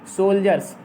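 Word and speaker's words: soldiers: जो कठिन समझते हैं हम उसको स्पेलिंग बोल दे रहे हैं, SOLDIARS, सोल्जर्स। डी से जा पढ़ा जाएगा यहाँ, जैसे एजुकेशन में डी से जा पढ़ते हैं, ठीक है।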